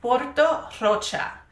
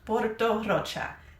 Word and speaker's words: Porto Rocha: This is Porto Rocha. I pronounced it in Spanish. Porto Rocha.